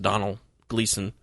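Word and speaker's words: Domhnall Gleeson: he's he's an actor whose name i believe is pronounced donald gleeson um who's made a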